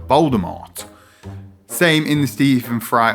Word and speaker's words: Voldemort: ago that Voldemort was actually intended to be pronounced Voldemort as opposed to Voldemort.